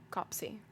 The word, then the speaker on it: Coplesey: Indeed, the bishop often stayed at Coplesey, pronounced Copsey, Hall, Lord Beamsey's place in the west.